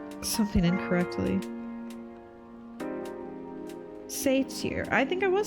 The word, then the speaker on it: satyr: I hate when I go like a whole stream and I'm pronouncing something incorrectly. Satyr.